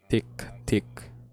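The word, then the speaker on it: tiktik: it again tick tick if you can pronounce it properly just just take the word the first word i mean of the abominable piece of app on the phones the tick tock and just repeat it uh that's how you pronounce it she said that it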